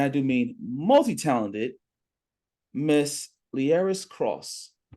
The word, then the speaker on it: Leairis: multitalented Miss liaris cross did I pronounce the name right you did thank you so much for getting it right okay I get called I get called L Lis liis and it's like no those are all beautiful